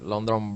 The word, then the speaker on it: London: and that is that a lot of people say londong but it's not a at the beginning like lots of these words it's an a kind of sound so it's London la like love la like love come London London okay London Bridge experience the